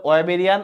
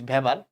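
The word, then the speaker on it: Weber: থাকে কিছু ছোট ছোট অস্থির মাধ্যমে এদেরকে বলে ওয়েবেরিয়ান অসিকল একটা বিজ্ঞানীর নাম অনুসারে বিজ্ঞানের নাম হচ্ছে মোস্ট প্রবাবলি তোমার হারনেস্ট হ্যান্ডরিচ ভেভার তো অনেক ভেভার অনেকে ওয়েবার বলে উচ্চারণ করতে গিয়ে কোন সমস্যা নাই তোমাদের বইয়ে ভেভার লিখছে আসলে ওয়েবার বললে ভালো যাই হোক কিছু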